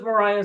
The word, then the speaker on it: Maria: Oh, they were pronounced Mariah so that they wouldn't be confused with being Kaplan because of Veneration of Mary.